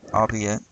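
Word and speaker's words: albeit: The archaic word, albe it does not rhyme with eight.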